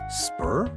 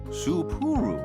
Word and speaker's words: Sapporo: Spur? No, 3 syllables. Sapporo. Sapporo.